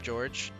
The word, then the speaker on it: Jorge: Like, because it's spelled Jorge. But we did just call him George.